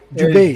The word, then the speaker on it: Dubé: Dubé, am I pronouncing that right? Dubé? Dubé, yes.